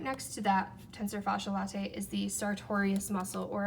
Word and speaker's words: latae: of it is called the pronunciation is questionable because latte is spelled la ta e and a Starbucks latte is la te or la TT e so just a difference in spelling but it's just a